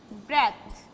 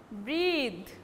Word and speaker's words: breathe: and it will be, its pronunciation will change. It will take the sound, breathe. Previous one was breath. Now it's breathe.